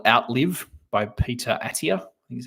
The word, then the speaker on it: Attia: a really cool book called outlive by Peter attia think is how you say his name he